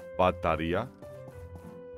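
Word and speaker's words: μπαταρία: In Greek we say bataria. Not B, but with P.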